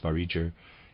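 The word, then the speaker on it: Vareger: the East readers aside I'm pronouncing this varicer it's spelled v-a-r-e-g-e-r and to read as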